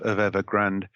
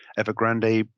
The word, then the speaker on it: Evergrande: the teetering collapse of evergrand evergrande depending on how you pronounce it is this a